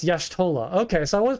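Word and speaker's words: Y'shtola: Yeah, it's Yashtolah. Okay, so I was pronouncing it wrong.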